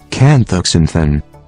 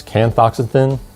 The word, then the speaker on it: canthaxanthin: best here, but I'll show you the proper pronunciation real quick. We'll get some help from Google. Canthaxanthin. Astaxanthin. So the first is Canthaxanthin, and the second is Astaxanthin.